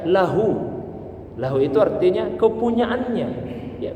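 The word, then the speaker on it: له: Maka bacanya lahu.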